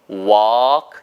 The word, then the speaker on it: walk: will walk 길게 walk L이 묵음이에요.